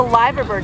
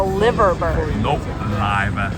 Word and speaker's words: Liver Bird: called a what so it's a liver bird not a liver bird that's a that's a